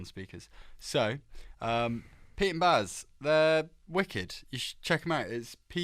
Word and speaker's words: BAS: So, Pete and Baz, they're wicked. You should check them out. It's Pete and BAS. Pete and Baz. Baz. Bass. Bass. Well, it's not bass, is it? Because that's double S.